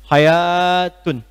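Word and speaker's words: حياة: Menariknya kalimat hayat, hayat itu pakai alif. Hayatun. Sesuatu yang pakai alif, kalau dari segi pengucapan, itu menunjukkan kalimat yang dibaca mengalami pemanjangan bacaan.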